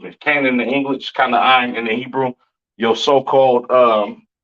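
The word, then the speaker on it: כנען: Or Canaan in the Hebrew. Excuse me, Canaan in the English, Kanaan in the Hebrew.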